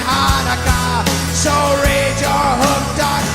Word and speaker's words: Hanukkah: It's not pronounced Chanukah. The C is silent in Hanukkah.